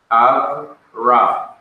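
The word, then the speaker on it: אברם: It's pronounced Av, not Ave, Avram.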